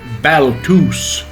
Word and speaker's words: Balthus: is a guy named balthus actually he pronounced it baltus which was his polish way of saying his name he was quite a